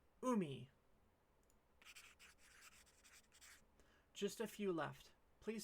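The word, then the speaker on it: うみ: You tell me how this is pronounced, please. It means ocean. So how would you say it? That's right, umi.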